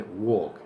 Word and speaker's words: walk: walk the same thing the a becomes an O and you don't pronounce the L so you say walk and Hispanic is coming